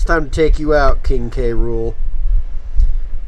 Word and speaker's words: K. Rool: to take you out king krule or King cruel cuz that's the whole point of his name thing you're supposed to